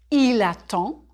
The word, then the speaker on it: attend: J'attends, tu attends, il attend, nous attendons, vous attendez, ils attendent. Il attend, singulier. There's no E after the D, so you don't say the D.